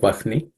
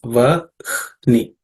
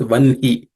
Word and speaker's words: vahni: It's Vahni, Vahni. But there is also tradition of some people chanting it, reading it as Vanhi. So I will not, both are acceptable, let's say. But it's Ihna is the second compound letter, though some people may pronounce it as Vanhi.